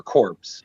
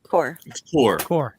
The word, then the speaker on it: Corps: am I saying it right is it core corpse uh core okay cool thank you just make sure um